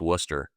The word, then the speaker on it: Worcester: If you're if you're in Boston, it's just Worcester. You know, you just eliminate all the syllables.